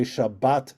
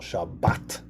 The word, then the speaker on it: Shabbat: yeah chabus and in in sparik it's always on the last syllable shabat okay all right that's